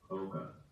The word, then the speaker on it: Coca: Now batting number 22, Louis Coca. Coca Mocha. It rhymes with like mocha from Starbucks or Coca-Cola, which is based in Atlanta.